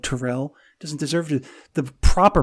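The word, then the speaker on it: Terrelle: the ball a la the 77 catch season taro Pryor and I will call him taro because it is deserve to be called Terrell doesn't deserve to the proper pronunciation of his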